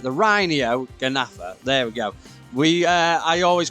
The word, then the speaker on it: Rhyniognatha: The Rhyniognatha.